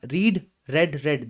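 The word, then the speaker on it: read: में सेम है लेकिन इसकी जो प्रोनंसिएशन है दैट इज डिफरेंट इसको हम बोलते हैं रीड या आता है रेड ये भी आता है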